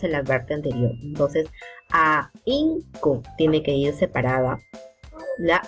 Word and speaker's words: ahínco: manteniendo, y en esta, por su condición de ser una sílaba muda o no sonora. Por ejemplo, ahínco, búho y zanahoria, ¿ok? Ahínco. Imagínate que esta H no estuviera, por tanto la I,